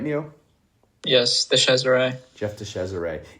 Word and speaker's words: DeCesare: Did I pronounce that right, Neo? Yes, DeCesare.